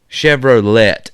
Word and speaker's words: Chevrolet: Chevrolet, actually, is how it's pronounced.